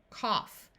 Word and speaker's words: cough: have rough Tough Enough in this word we have a short o sound cough in these words Au